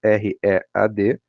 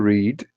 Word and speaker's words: read: Por exemplo, no presente, to read, e no passado, read. Parecido lá com a pronúncia da cor vermelha, né? Então, read, read, ok?